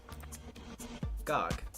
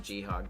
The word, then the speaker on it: gog: So, like, no, it's not. It is still just pronounced GOG.